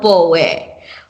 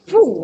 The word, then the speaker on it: Pooe: somebody might say Pooh.